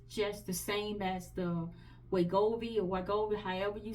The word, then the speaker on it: Wegovy: That little extra, So, I just told her I couldn't afford to get the Wegovy. That's how you pronounce it.